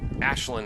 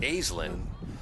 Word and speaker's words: Aislinn: Through ball pass by Ashlyn Bennett. Spelled Aislinn, but Ashlyn is the pronunciation. She went over that with me. Trying to remember the name of the girl at Bishop Fian who pronounced it Aislinn.